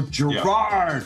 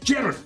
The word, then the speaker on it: Gerard: By the way, in America, the emphasis is on the second syllable. So they go Gerard. Yeah. Yes. And in Scotland and India, they go Gerard. Yeah. So the emphasis is on the first vowel.